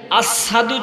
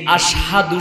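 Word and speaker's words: أشهد: মুহাম্মাদুর রাসূলুল্লাহ সাল্লাল্লাহু আলাইহি ওয়াসাল্লাম মসজিদে নববীর মধ্যে কেমন মুয়াজ্জিন রেখেছে, যিনি আশহাদু শুদ্ধ উচ্চারণটা করতে পারে না, আসাদু বলে, লফজটা ভুল বলে।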